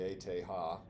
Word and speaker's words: ETH: Jack dunnett at the eth in Switzerland and some people like to pronounce that in German so you'll hear us we'll hear some chemists call it the ate ha in any case they